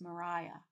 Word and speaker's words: Mariah: It looks like Maria, but it's not pronounced Maria, it's pronounced Mariah.